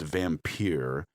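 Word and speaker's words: Vampyre: The tour ended at a vampire bar, pronounced vampire. For supposedly immortal beings, they have thin skins if you call them vampires without the Y.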